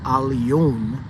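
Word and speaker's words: עליון: stranger or foreigner, but aliyun is a Hebrew word, and it's pronounced just like that, aliyun, and spelled aleph, lamed, yod, wa, nun, which literally is aliyun or aliyun, and it means the most high.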